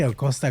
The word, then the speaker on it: Acosta: Senor Enrique, you have to pronounce it, you gotta roll the R's, when it comes down to my dude in Florida. Enrique Acosta Gonzalez.